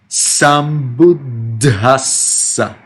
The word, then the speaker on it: Sambuddhassa: Sa is double S. Sambuddhassa. You see? 3 times you get double consonant.